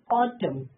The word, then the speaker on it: autumn: Autumn N silent.